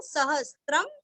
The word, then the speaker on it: सहस्रं: विष्णोर नाम, विष्णोर आधार, विष्णोर नाम सहस्त्र, सहस्त्र अनुस्वार का उच्चारण आधा म, सहस्त्रम, विष्णोर नाम सहस्त्रम में, म अनुस्वार का उच्चारण करके आगे में बोलना है।